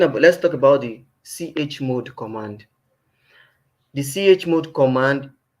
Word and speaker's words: chmod: time left okay now let's go to the CH mode command the CH mode command that's where I pronounce it sometimes I I used to pronounce it as g mode the way I pronounce it but it's actually